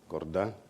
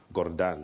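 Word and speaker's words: Gordhan: to banking colleagues Minister Gordon there's a correct pronunciation of his name Gordon not Gordon Gordon which means the Shepherd Minister Manuel everybody else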